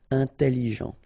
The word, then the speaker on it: intelligent: Final T not pronounced, so G-E-N, Jean, okay? Intelligent. Double L, it opens the pronunciation of your E, so it's E. Intelligent.